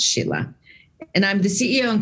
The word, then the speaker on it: Scilla: welcome my name is Sheila and it's spelled like skilla s-c-i-l-l-a but it's pronounced Sheila and I'm the CEO